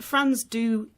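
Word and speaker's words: Frans du Toit: or you know he's it's pronounced France do t o i t let's just call him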